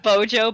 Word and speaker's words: Bojo: how to pronounce it it's pronounced bojo but please keep calling him boyo yeah i think i